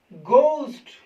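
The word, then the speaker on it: ghost: जैसे दोस्तों इसको बोलेंगे घोस्ट। अब दोस्तों बहुत सारे टीचर्स को घोस्ट पढ़ाते हैं। आज से दोस्तों आप इसको एच को प्रोनाउंस नहीं करना है, इसको घोस्ट पढ़ना।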